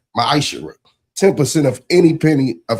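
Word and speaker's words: מעשר: Means 10th in Hebrew, and is pronounced Ma'asherah.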